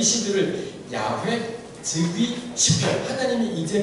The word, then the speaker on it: 야훼: 그래서는 시편 연구자들은 이런 시들을 가리켜서 여호와를 왜 이 학자들은, 그리고 여호와라는 이름의 원래 발음은 야훼라고 여겨집니다.